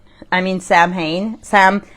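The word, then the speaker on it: Samhain: Uh, salmon. I mean Sam Hayne. Sam, how do you say it again? S A M H A I N. Not salmon like the fish, but Sam Sam, I don't And you.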